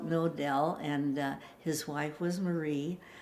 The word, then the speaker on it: Knodel: in Germany and my grandpa's name was William knodel KN o de l only we like to pronounce it no doubt canoodle wasn't all the favorite name of any we call it no del and his wife was